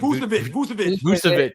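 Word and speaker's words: Vučević: Vucevic.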